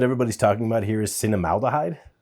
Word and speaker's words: cinnamaldehyde: The chemical that everybody's talking about here is cinnamaldehyde. Cinnamaldehyde, I believe is how you pronounce it.